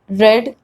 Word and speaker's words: read: the list different because though the spelling remains unchanged the pronunciation changes so it is read red red this is the sweetest